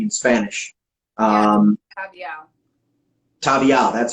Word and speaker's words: Tabiel: Tabial, that's how you pronounce it.